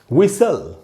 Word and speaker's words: whistle: इसमें ये जो टी है ये साइलेंट है, इसको नहीं पढ़ेंगे और इसका प्रोनाउंसिएशन होगा, इसका उच्चारण होगा विसल, विसल।